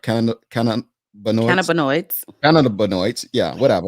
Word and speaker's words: cannabinoids: you didn't implement medical marijuana you added synthetics cannabiloids i i pronounced that right can cannon cannabinoids yeah whatever right i just say cbd you